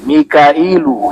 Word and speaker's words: Mikail: Selebihnya itu bahasa asing Jibril bukan bahasa Arab. Mikail, Jibrilu, Mikailu. Dibacanya begitu. Israfilu, Izrailu, Raqibu, Atidu.